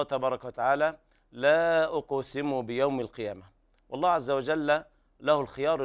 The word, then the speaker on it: القيامة: وهنا تاء التأنيث يوقف عليها بالهاء لأنها تاء مربوطة، ففي حال الوصل تقرأ تاء وحال الوقف تقلب هاء، فيكون النطق هكذا لا أقسم بيوم القيامة، والهاء ضعيفة ولا داعي للمبالغة فيها.